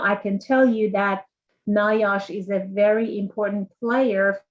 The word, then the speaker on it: NIOSH: The first question we have is, could you explain the difference between OSHA and NOISH? I don't know how to say it. NIOSH. Okay. NIOSH, yeah.